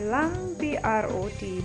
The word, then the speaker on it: langbrot: SHEEP-LANGBROT, L-A-N-G, lang, B-R-O-T, brot, LANGBROT.